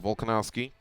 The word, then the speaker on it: Volkanovski: Alexander Volkanovski, not Volkov, Volkanovski versus Mizuto Hirota.